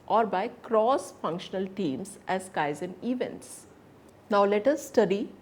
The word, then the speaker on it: Kaizen: It is pronounced as Kaizen.